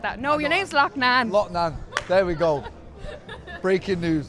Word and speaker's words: Loughnane: They're like LOUGHNANE. I'm like, maybe he wants it pronounced like that. No, your name's LOUGHNANE. LOUGHNANE.